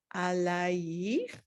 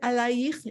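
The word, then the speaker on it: עָלַיִךְ: Kivod Adonai alayich nigla. Is it alayich? Is that correct? No, do you see the metek alayich? It is not alayich. Usually, unless it says otherwise, it's the emphasis on the last syllable.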